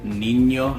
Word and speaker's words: niño: So the ñ really makes that sound, ñe or ña or ñi, ño. So words like niño have it, señor or señorita.